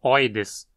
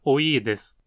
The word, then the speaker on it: oides: Essa tem o gênero terminado com o polêmico sufixo oides, que muitas pessoas pronunciam como oides, mas o I longo ali faz com que a pronúncia adequada seja oides.